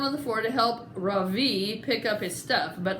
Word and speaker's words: Ravi: Ravi, R-A-V-I, Mrs. Beam has been calling him Ravi, but when he introduced himself earlier, I'm pretty sure that he said his name was Ravi, with the accent on the second syllable.